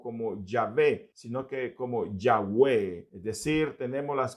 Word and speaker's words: Yahweh: y no Yahvé, pero los estudiosos del hebreo afirman que es un error transliterar o traducir o pronunciar, mejor dicho, la tercera consonante del tetragramatrón, que es la letra Vav. En hebreo, la tercera consonante es Vav, y la mejor pronunciación sería más cercana a como suena nuestra V y no como la W inglesa, que suena más como U.